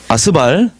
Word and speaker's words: 스발: 이 발음 조심하셔야 됩니다. 이거 메사에서 스발.